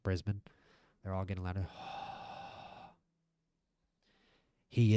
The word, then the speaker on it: Brisbane: And fighting out of the blue corner, hailing from Bispin, Australia. The crowd gets louder even though I mispronounced Brisbane.